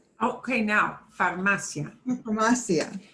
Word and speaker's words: farmacia: Ándale, abierta, antes, ventana, manzana, farmacia. Okay, now, farmacia. Farmacia. Right. Often it is an ia at the end, but this one is not, farmacia.